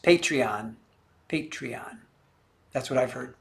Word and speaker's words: Patreon: And it is pronounced Patreon.